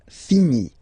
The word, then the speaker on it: finis: Je finis. Remember, final S is not pronounced.